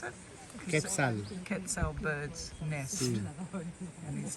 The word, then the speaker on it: Quetzal: One is parasitic, the other one is How do you pronounce it? Quetzal.